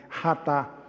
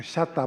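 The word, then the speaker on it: חטא: Ratá, porque na lição estava com CH, fica chatá, mas não é chatá, é ratá.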